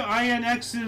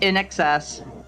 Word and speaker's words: INXS: Roost too yeah 1995 INX is uh no no no no no you said it wrong it's in excess in excess okay Michael Hutchinson uh